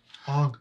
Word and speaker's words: Aang: Aang. Aang. That rhymes with Meng.